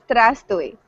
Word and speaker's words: Здравствуй: All I know is Здравствуй. Oh, Is it correct? Yes, good pronunciation.